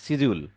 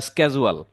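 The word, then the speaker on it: schedule: হচ্ছে daily budget and সিজিউল এ কথাটা কিন্তু আমরা শিডিউল বলি আপনারা বলবেন সিজিউল বা স্কেজুয়াল ঠিক আছে উচ্চারণটা সঠিক রাখতে হবে সিজিউল বা স্কেজুয়াল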